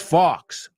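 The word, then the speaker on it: Fawkes: dude you said guy it's Fox oh awesome he's like guy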